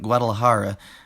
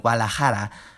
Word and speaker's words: Guadalajara: The correct pronunciations of those words are me gusta and Guadalajara, English allophones out, especially reduction, Spanish allophones and good pronunciation in.